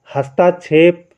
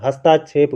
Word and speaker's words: हस्तक्षेप: कर दो है ना हस्तक्षेप हम लोग बोलते हैं गलत बोलते हैं हस्ताक्षेप गलत होता है हस्तक्षेप आपका क्या होता है शुद्ध होता है अब द्वंद